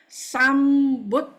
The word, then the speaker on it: Sambuddhassa: So we pronounce as Namo Tassa Bhagavato Arahato Samma Sambuddhassa. Okay, you try chanting that. Namo Tassa Bhagavato Arahato Samma Sambuddhassa.